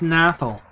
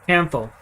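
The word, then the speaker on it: Kanthal: I can't do it with Nathal. Or Canthal. I keep calling it Nathal.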